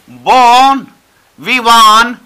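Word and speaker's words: bon vivant: और यहां पर हमारे पास एक ही चीज बची, वो है क्या, बोन विवान, प्रोनाउंसिएशन ध्यान देना, बोन विवान, बोन विवान, ठीक है, फ्रेंच एक्सप्रेशन है, और जिसका मीनिंग हो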